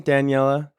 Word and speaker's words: Daniela: We're here with Daniela. Is that how you say your name, Daniela?